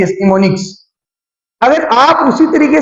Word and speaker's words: mnemonics: एन ई एम ओ एन आई सी एस निमोनिक्स अगर आप उसी तरीके से चलेंगे जिस तरीके